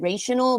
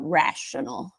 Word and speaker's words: rational: So it's I noticed when you read it, you said rational, but it's the correct way is rational. So repeat after me. Rational. Rational. One more time. Rational. Rational. Yeah, yeah. And you don't have to roll your R. You can just say the R normally. It's just the A's needs to be short.